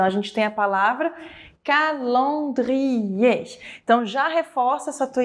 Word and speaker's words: calendrier: gente tem a palavra calendrier Então já reforça essa tua ideia, esse teu aprendizado de fonética de francês. Lembrando que palavras que terminam com ER, esse R não é pronunciado e existe uma tônica